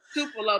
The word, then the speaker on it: Tupelo: don't know why people don't know how to pronounce it it's tupelo mississippi um so this is how it happened